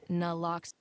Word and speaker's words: naloxone: Naloxone reverses an opioid overdose, even if you mispronounce it. For the record, it's naloxone.